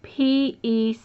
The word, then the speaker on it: pecan: How do you say P-E-C-A-N? And I say it pecan.